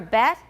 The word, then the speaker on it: bet: All right, what to do for bet? Watch my mouth, watch the difference. Bet, bat, bat, bet.